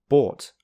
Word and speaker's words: bought: Bought, which rhymes with caught.